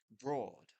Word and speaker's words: broad: It's this word, broad, because it does not rhyme with road or loads of other words that contain these vowels.